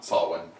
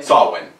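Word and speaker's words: Samhain: So it's S-A-M-H-A-I-N, and it's pronounced... Someone. Someone? Someone. Sawin.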